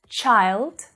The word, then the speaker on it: child: that's following that CH after that sound it's the vowel sound it's different right it's a different vowel sound so that's why using the phic script is so important for your pronunciation because you can see the sound and see that it's different I mean hear it